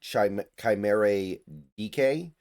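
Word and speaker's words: Chimere Dike: Chimere, I believe it's pronounced Chimere DK, and Van Jefferson are their top receivers now.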